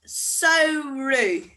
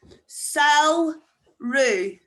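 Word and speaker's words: samhradh: And summer is sauru. Sauru. So a wee hint to help you there. If you look at the end of gevru and sauru, ADH is pronounced like a U fada.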